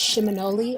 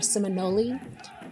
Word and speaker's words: Seminole: or Muskogee word, and it's pronounced Seminole or Seminole.